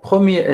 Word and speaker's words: premier: Donc le premier étage, premier facteur, le premier facteur, donc dans premier facteur, je ne prononce pas le R. Donc premier étage, donc normalement je dois dire le premier étage. Donc je dois prononcer le R.